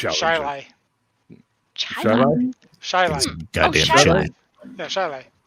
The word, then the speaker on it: Chili: There's a suburb of Rochester, New York, spelled Chili, but it's pronounced Shiley.